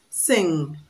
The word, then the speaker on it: sing: Question 25, 2017, we have sing, Sing. S-I-N-G. Sing. The N is pronounced ng.